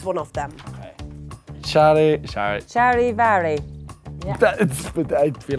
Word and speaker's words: Charivari: Charivari. But I feel like that's not the German way of pronouncing it.